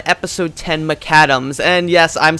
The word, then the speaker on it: Maccadam's: looking at transformers cyberverse season 1 episode 10 McAdams and yes I'm saying that as McAdams I was we caught previously referred to it as maca dams but that's because if I'm honest I never